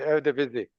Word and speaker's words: Eredivisie: could you just tell me how they pronounce that league? Yeah, it's the Eredivisie.